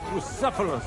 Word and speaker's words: Bucephalus: It's pronounced Bucephalus. See now, just mispronounce the name, and we're not talking about a horse, but a cock.